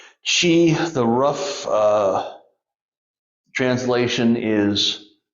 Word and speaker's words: Qi: the internal organs now Chi spelled Qi looks like it should be pronounced key but it's c-h-e-e she the rough uh translation